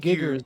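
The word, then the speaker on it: Giger: said you mispronounced HG Thank Giggers. you, man. Joey, for going exactly where my brain went. I said Mhm. Geiger, didn't I?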